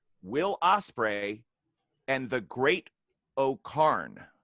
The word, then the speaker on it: O-Khan: osprey and the great oh karn i'm pronouncing that correctly it's changed it to officially to ocon great oh khan yeah it changed his